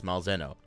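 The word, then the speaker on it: Malzeno: You're not sure how to pronounce Malzahno? It's Malzahno. Malzahno? I think it's Malzahno.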